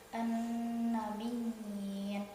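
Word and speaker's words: النبيين: Keterangannya, apabila ada dua ya dalam satu kalimat, yang ya pertama bertasjid, ya yang kedua yaitu sukun. Cara membacanya dengan menetapkan bunyi ya yang bertasjid dengan ditekan dan ditahan 2 harakat.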